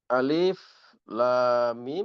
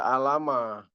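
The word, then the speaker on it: الم: Jadi alif lam mim sebagaimana yang sudah kita pahami itu tidak dibaca alama ya atau ilama tetapi dibaca huruf per huruf makanya disebut dengan huruful muqatah.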